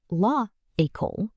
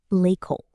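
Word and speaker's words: l'école: Instead of lah ecole, French says l'ecole, the school.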